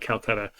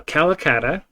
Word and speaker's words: calacatta: this is called uh calcutta or calcutta or something not calcutta um now calacatta the um this one